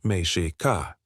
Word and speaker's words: Mexica: The indigenous name for the Aztecs pronounced Mishi Ka.